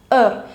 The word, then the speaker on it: heure: Now in French you write H but you don't pronounce it. So it's just treated as an invisible letter. EU is heure.